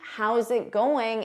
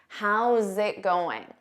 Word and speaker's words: How's it going: How's it going? You need to combine those sounds together.